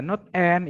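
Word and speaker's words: NAND: OR, ada NOT, ada not and, ini bacanya not and ya, bukan nen, tapi not and itu not.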